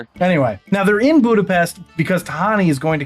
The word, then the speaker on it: Budapest: And before anybody says it's actually Budapestt, that's how they pronounce it in Hungary. I'm in America. I speak English. I pronounce it Budapest. It's an accent thing.